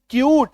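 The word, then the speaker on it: cute: तो सी यू टी ई क्यूट य में बड़ी उकार की मात्रा।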